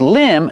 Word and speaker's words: limb: Remember, with limb, the B at the end is silent.